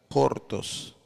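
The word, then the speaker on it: χόρτος: que es la hierba hierba en griego se pronuncia hortos con su referencia en str strong 5528 relacionada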